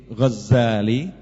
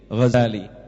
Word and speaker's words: Ghazali: bin Muhammad alghazali atusi alghazali ini bacanya Bisa dua bisa dengan eh tasdid zaai jadi Gazali bisa dengan takfif Zain jadi Gazali kalau Gazali artinya nya pemintal kain tapi kalau Ghazali ringan itu nama suatu desa di tus ya suatu